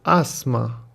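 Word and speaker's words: asthma: بدر یعنی برادر کوچیکترم اسما آسم داره اسما تلفظشو دقت کنید اسما اسما رایتینگشو نگاه کنید این اچ خونده این تی اچ اصلا خونده نمیشه اسما اسما یعنی چی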